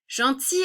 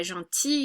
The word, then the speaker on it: gentil: It's you just pretend that maybe that gentil, you never pronounce the L. So I like to think it's a sound, that it sounds so much like a vowel that we're going to treat it as a vowel and just take